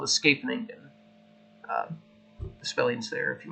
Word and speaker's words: Scheveningen: This would be an opening called the Scheveningen. The spelling's there if you want to take a look at it. I'm pretty sure that's the correct way to say it, Scheveningen.